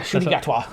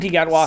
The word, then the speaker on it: Ncuti Gatwa: You get Ncuti Gatwa. Yeah, Ncuti Gatwa. Yes, That's how you pronounce it. Ncuti Gatwa.